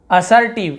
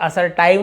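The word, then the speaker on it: assertive: इव देखिए अभी पढ़ेंगे हम, जैसे असर्टिव, इसे असर्टाइव नहीं पढ़ रहे, असर्टिव TIV है, लेकिन इसे हम टाइव नहीं पढ़ रहे हैं।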